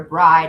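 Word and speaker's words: Brigid: So, yeah, Bridg's it. I have heard of pronounced breed or bride or yeah, whatever. I don't know. Bridg works for me.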